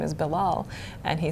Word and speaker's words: Bilal: And my son actually told me that he had a teacher who had trouble pronouncing his name, his name is ‘Bilal.’ And he said that this teacher said, ‘I'll